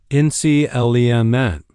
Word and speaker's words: inclement: By the way, even though I'm Canadian, I tend to use the American pronunciation here, inclement.